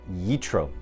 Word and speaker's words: Yitro: Hi everyone, it's Sam Zitten here with your week's moment of inspiration on our Torah portion this week, Parshat Yitro, or Yisro, depending on how you say it.